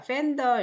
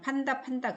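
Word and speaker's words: panda: 자, 팬더 이렇게 나오죠. 우리나라 사람들은 판다 그러죠. 자, 모음이 누구 있어요? 에. 여기는 발음. 이는 발음이에요.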